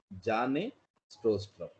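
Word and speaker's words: Bjarne Stroustrup: the person called johnny so be silent when you are pronouncing janae strostrom so he is the inventor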